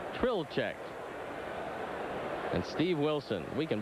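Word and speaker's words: Trlicek: Well, Tommy, you tracked down the correct pronunciation of this fellow's name, the right-hander that was up in the bullpen, and that is Rick Trilchik. You got it and still can't say it. Right. Trilchik.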